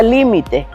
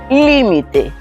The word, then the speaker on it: límite: Miremos en en la palabra límite. Límite en esta la sílaba tónica es li. Entonces cuando yo digo límite, ¿qué quiere decir?